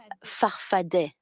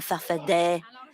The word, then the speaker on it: farfadet: Your movement, you call it farfada with two A's at the end, but you pronounce it farfadet. Answer, depends on who pronounces it. I've always said I'm a farfadet.